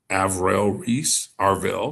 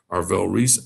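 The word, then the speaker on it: Arvell Reese: Uh wide receiver Carell Tate who's a junior and white and edge avail sorry mispronounced that Arll Reese out of Ohio State go to the Titans uh Carnell Tate and then Arll Reese goes to the Giants.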